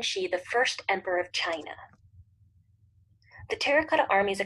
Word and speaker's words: Qin: the first emperor of China and the founder of the Qin Dynasty the word China actually derives from his name it spelled Quin but it's pronounced chin like China chin he rolled from